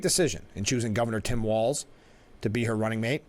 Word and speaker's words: Walz: let's see oh I I pronounced walls yeah has anybody had that question I didn't I don't that's what El Franken said it's walls pronounce walls a great choice with